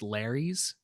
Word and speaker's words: lares: Some of the sources I read said that they were pronounced lares.